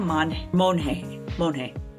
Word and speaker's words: Monge: So it's March of 2011, and 19-year-old Kenia Monge. Like the artist Monet, or like Monge, like, yay, it's Monday. Or yay, like, it's Monge. Monge. So it's spelled M-O-N-G-E, but it's Monge.